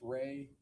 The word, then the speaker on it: Rey: There's also a visual spatial ability test and I'm going to have you explain or pronounce that for us. the REY test. Ray, the Ray Astrich complex figure test.